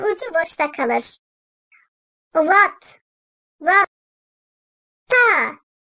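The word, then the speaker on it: ط: Ta. Dil ucunun üst damağın ön tarafına üst ön dişlerin dibine değmesiyle çıkartılır. Ta. Bazen arkadaşlar tı diye de çıkartıldığı oluyor.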